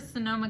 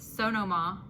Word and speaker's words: Sonoma: So you've heard of Sonoma County, Sonoma, California? There's somebody that pronounces it Sonoma.